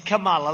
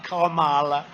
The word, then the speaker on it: Kamala: pronounce your name right it's kamala like a comma kamala and yet she pronounces